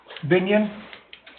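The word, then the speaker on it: Binyon: Bingan. Spell that.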